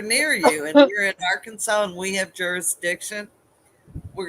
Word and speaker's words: Arkansas: Arkansas. In Arkansas, you must pronounce the state name correctly. You can't say Arkansas or Ark, cactus hugging. Yeah. You have to say Arkansas.